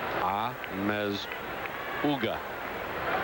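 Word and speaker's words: Amezaga: I'll go with the pronunciation. Amazuga.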